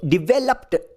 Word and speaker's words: developed: ಪದವನ್ನು ಇಡಿ ಆಡ್ ಮಾಡಿದೀವಿ letter B ಒಂದು voice less sound voice less sound ಅನ್ನು ನಾವು ಇಡಿ ಆಡ್ ಮಾಡಿದ್ರೆ ಅದರಲ್ಲಿರುವ ಲೆಟರ್ ಡಿ ಅನ್ನು ಲೆಟರ್ ಟಿ ನ ಟ ಶಬ್ದ ಉಚ್ಚಾರಣೆ ಮಾಡ್ತೀವಿ ಲೆಟರ್ ಇ ಸೈಲೆಂಟ್ ಆಗುತ್ತೆ ಸೋ ಡಿವೈಲಪ್ಡ್ ಹೀಗೆ ಉಚ್ಚಾರಣೆ ಬರುತ್ತೆ ನೆಕ್ಸ್ಟ್ ನೆಕ್ಸ್ಟ್ ವರ್ಡ್ ಡಿ